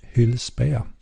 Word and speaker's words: Hylspeia: I pronounce it Hylspeia.